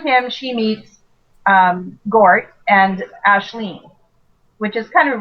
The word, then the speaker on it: Aisling: and through him she meets Gort and Ashleen, which is kind of a really cool Irish name. And Yes, so I like that one. I wanted to use it because it's spelled Aisling.